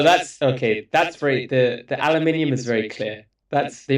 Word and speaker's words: aluminium: That's very the aluminium is very clear. That's the Americans are wrong. Aluminum doesn't exist.